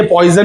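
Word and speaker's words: Poisson: फिर पॉइजन्स ratio क्या है, ये पॉइजन नहीं है रे बाबा, ये आई थिंक फ्रांस का साइंटिस्ट है एंड इसका प्रोनाउंसिएशन है पॉइजन, पॉइजन्स रेशियो, ठीक है।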